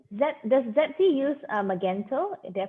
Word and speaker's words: Magento: let you yeah okay magento that's how you pronounce it magento yeah because i'm actually learning this as well